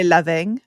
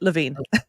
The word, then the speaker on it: Lavine: Lavine. Lavine. Okay. Well, that's And if you're French, you would say Lavine, but Lavine.